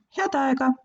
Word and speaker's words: Head aega: 'Head aega!' We rather say this as one word 'Hea-daega! Head aega!'